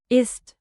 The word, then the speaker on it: ist: Was Like was, not was, and keep. ist? Crisp, east.